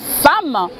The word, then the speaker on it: femme: Ce mot, ce petit mot femme qui fait couler tant d'encre et salive, c'est mot femme qui s'écrit femme mais qui se prononce femme fait mal à la tête du monde.